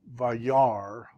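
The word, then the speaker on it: וַיַּרְא: Vi, yar, and then this is quiescent, meaning don't say anything. So this is actually a closed syllable. And because this is a nothing sound, you don't say it, right?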